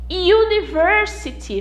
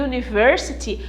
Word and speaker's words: university: University, veja que university começa com a letrinha, com a vogal U, mas a pronúncia não é a pronúncia de vogal, é a pronúncia de U.